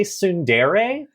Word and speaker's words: tsundere: Are you trying to say tsundere? Do you not pronounce the T? I see it written. No. Then, sorry, if it's a Japanese word that we're writing in English, why do we put letters that we don't need in it?